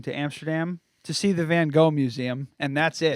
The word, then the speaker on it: Van Gogh: then we're going to Amsterdam to see the van Gogh Museum and that's it it's pronounced Van Gogh Van Gogh Museum Bangkok Museum